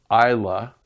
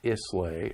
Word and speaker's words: Islay: this little place that is pronounced Isla go figure is la whaai pronounced isla not Islay or ela Islay isla and then you have